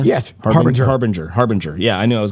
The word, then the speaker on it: Harbinger: Jordan Harbinger? Yes, Harbinger. Yeah, I knew I was going to mispronounce that.